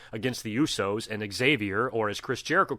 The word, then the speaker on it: Xavier: Kofi and Big E against the Usos and Xavier, or as Chris Jericho called him, Javier. One of my favorite things about Jericho is how he always mispronounces people's name, calling Lillian Garcia Vivian, Mark Henry, Mike Foley, Vance McMahon.